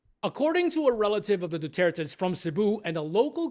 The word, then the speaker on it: Duterte: Alors, voilà, je viens de vous expliquer que Duterte est nom de famille français et la prononciation correcte en français, c'est Duterte.